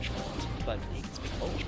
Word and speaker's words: Geralt: Geralt, so hard G. Gerald. They kind of swallowed the alt.